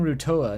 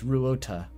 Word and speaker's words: Ruota: Yeah, I was saying Rutoa. No, it's Ruota. It is correct. Okay, I wrote it down correctly, but I was saying it wrong.